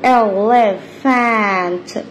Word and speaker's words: elephant: اهي يلا بينا ا ل، اهي بي اتش بتنطق ف ا ن ت elephant.